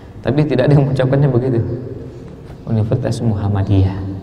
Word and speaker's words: Muhammadiyah: tidak mengucapkannya begitu Universitas Muhammadiyah Muhammadiyah m-nya satu padahal tulisannya jelas double hal-hal seperti ini sampaikan